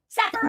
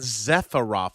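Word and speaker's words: Sephiroth: SEPHAROTH. THANK YOU. I KEEP FORGETTING. OH, he keeps saying Zepharoth. It's Sepharoth from Final Fantasy 7. It's an S. Don't pronounce it with a Z.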